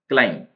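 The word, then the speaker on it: climb: क्लाइम भी silent है इसमें, क्लाइम चढ़ना।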